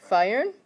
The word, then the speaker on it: feiern: Feiern. Yeah, what a couple people are doing when you're pronouncing it is you're adding an R after the F. There is no R there, so careful on that.